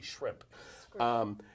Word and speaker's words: shrimp: You pronounced shrimp incorrectly. You were pronouncing it scrimp. It's actually shrimp.